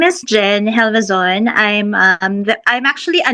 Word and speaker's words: Gelvezon: a special guest SI Jen Jen ano ba pronunciation MO is it helison gison you got it right po H helison